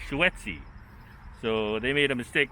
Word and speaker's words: Schuetze: the dedication to uh william henry schuetze not schutzey as you can see it's here it's spelled uh here spelled uh h e u t z e it's actually spelled s-c-h-u-e t-z-e swetzy so they made a